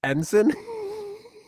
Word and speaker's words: ensign: The It's G kind of like silent.